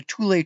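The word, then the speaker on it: Thule: still there camp tulle it's pronounced tulle it's spelled t h u l e I was thle pronounced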